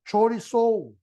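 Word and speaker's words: χωρίζω: importante es esto separar es una palabra griega que se pronuncia se pronuncia soriz chorizo como chorizo no chorizo Así es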